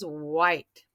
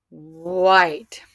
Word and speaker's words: white: My first word is white. White. Oh, you hear that? Whoa, my digraph. White. I hear the I is saying its name, and I don't hear that silent E at the end.